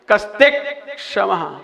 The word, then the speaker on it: कस्त्यक्षमः: कस्त्यक्षमः, ता के बाद आधा का बोलना है आपको।